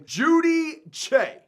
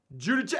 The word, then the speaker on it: Giudice: I literally watched the YouTube video just so I could learn how to pronounce this guy's last name. Giudice. Joe Giudice. Giudice, hey, you mean Giudice?